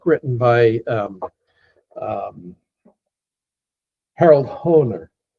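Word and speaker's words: Hoehner: Harold Honer. H O E H N E R. H O E H N E R. Harold Honer.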